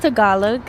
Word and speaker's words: Tagalog: so do you speak is it Tagalog it's pronounced Tagalog okay see I'm not